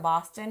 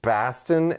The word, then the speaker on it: Boston: vowels as opposed to Boston and R's. Yeah, it's not B-A-H. It's B-A-W. Boston. It's not Boston. B-A-W-S-T-I-N is how you pronounce Boston if you're from here. Yeah.